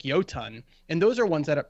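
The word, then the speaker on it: Jotunn: You had Jotun, or Jotun, properly pronounced, who is much more, who I think was very, very underrated.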